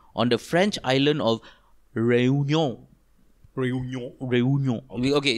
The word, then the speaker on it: Réunion: No, it's okay, it's written Réunion with a little accent on the E. Yes. So he said, just say Réunion pretentiously. Oh, that's correct, actually la. Correct. Réunion.